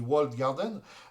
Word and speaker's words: walled garden: des wall Garden donc je l' prononcé volontairement accentué sur le ed de walled pour que vous compreniez bien on dit wal Garden donc sur les les